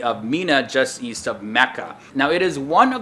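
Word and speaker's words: Makkah: of the city although the official translation used by the saudi government is mecca spelled as m-a-k-k-a-h which is closer to the arabic pronunciation the full official name is mecca al-makarama which means mecca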